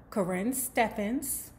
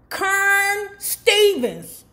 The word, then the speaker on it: Karrine Steffans: Now, let's talk about Karrine Steffans. I said it right this time. No, fuck her. Karrine Steffans, because what you won't do is shiz on my Teddy P.